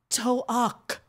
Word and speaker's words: Toak: It's called Toak. It's spelled T-O''AK.